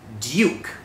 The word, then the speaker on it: Duke: ก ฤ ษ อ่ า น ว่ า Duke Duke อั น นี้ คื อ ที่ เ